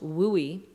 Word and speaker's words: WUE: students exchange it's called it was wue pronounced Louie because we couldn't come up with a better acronym unfortunately but that means